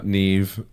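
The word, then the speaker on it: Niamh: and the next one n i a MH um Noah no Neeve NE just NE V Neeve and then the next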